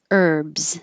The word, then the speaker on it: herbs: the ER bivore and herbs don't say the H herbs if it's a